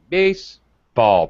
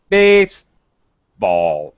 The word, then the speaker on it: baseball: la baseball all right baseball primary stress on the first word very high pitch baseball very low pitch on